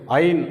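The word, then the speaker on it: עין: இந்த எழுத்தை ஐன் அப்படின்னு உச்சரிக்கிறோம்.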